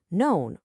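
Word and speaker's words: não: When you have to say known or no, when you're asking for help and you point with your mound, your hand.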